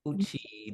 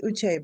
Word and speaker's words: Uche: What up, Uchi? Did I say it right? Uchi? No, it's Uche, but thanks for giving it a whirl.